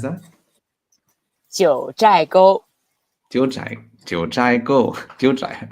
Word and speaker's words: 九寨沟: Jiu Chao Go, Jiu Chai Go. How do you pronounce that? 九寨沟 Jiu Chai, Jiu Chai Go, Jiu Chai.